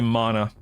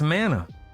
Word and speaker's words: mana: I don't say mana. It's mana. Brutal says it right.